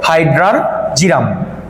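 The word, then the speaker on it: Hydrargyrum: না কিন্তু আর উচ্চারণটা আমি লিখে দিছি অনেকে উচ্চারণ সমস্যা হবে হাইড্রারজিরাম ওকে এবার চলে আসি নিচে দেখি আমরা এটা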